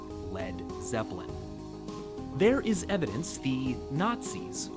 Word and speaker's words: Led Zeppelin: He removed the A so it wouldn't be pronounced lead. And that's where we got Led Zeppelin.